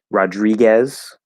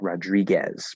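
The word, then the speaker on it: Rodríguez: you're from Spain um Rodriguez so D to R right the D becomes a a j in the combination so we follow that it's not Rodriguez Rodriguez and of course the O there because it's between two consonants that tends to become the fifth vowel ah Raji um could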